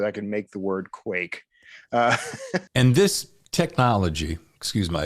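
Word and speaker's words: QIEK: help me understand what you call it Quake but it's spelled Qi e k right so break that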